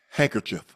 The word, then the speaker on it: handkerchief: Well, you need to No, that's not the That's not The D is silent.